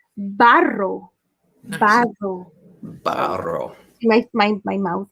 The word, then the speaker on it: barro: So in Spanish, clay, you say barro. Nice. Barro. Barro. my mouth. Barro. I like the way you roll the R's. Roll your R's.